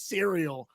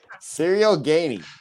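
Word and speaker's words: Cyril Gane: He pronounced the man's name as cereal. I didn't even heard that. Cyril Gone, dude. Cyril Gainey.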